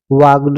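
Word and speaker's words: walked: एच आई L while he वाकड यहां पर ल साइलेंट डब्लू ए एल केई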